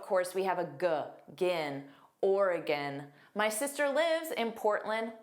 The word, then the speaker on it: Oregon: Oregon. Notice there are three sounds. are stressed or and then a hu or a orura and then we have an unstressed gin.